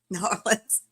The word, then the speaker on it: New Orleans: yelled at me and said it's nor Orleans norleans so well there are people that end up saying New Orleans with about six syllables between the two words so you did you